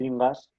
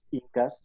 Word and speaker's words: inca: en las conquistas los ingas o los incas bueno inga o inca debido a la pronunciación del quechua pues son equivalentes y como en muchos